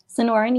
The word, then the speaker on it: Sonoran: Sonoran, yes.